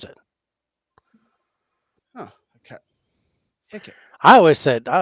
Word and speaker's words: Hecate: Hecate. Yeah, HECK-UT. Hecate is as how to pronounce it. Oh, Hecate.